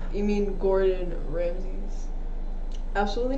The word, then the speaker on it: Gordon Ramsay: how you say him she literally says golden ramses and i was like that's adorable but that's not how you say it i won't say golden i would never say golden ramsay's you say gordon ramsay's though yeah sometimes i'm